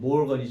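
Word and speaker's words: Morgan: 딴 건데요 드모르간 법칙 영어 발음으로는 모건이 모건 근데 이제 모르간 머르 칙 얘는여 집합에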